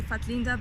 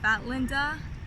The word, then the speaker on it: Fatlinda: It's actually Fatlinda. It's my full name. But how people pronounce it here is Fat Linda, which is not cool. It's Fatlinda.